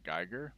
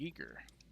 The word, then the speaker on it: Giger: know H.R Giger uh it actually is pronounced because I always always HR Geiger but it's actually a geeker weirdly enough the guy who made